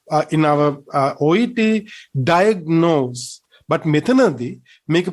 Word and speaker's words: diagnose: diagnosed as some type of blood disorder diagnose diagnose get the correct pronunciation this time we have to state the first syllable not the second one we don't say diagnose no we have to say diagnose now we